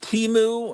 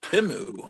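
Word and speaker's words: Temu: pronounce it exactly but I always pronounce it teu and then then during the Super Bowl they had ads correcting the Americans pronunciation it's timu oh oh okay they had to let us know we're mispronouncing it I pronounce it cheap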